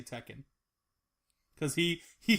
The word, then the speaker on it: Tekken: like what it's like I don't know why he pronounce it that way like just say Tekken it's it's Tekken he had a brain fart like teken yeah what was I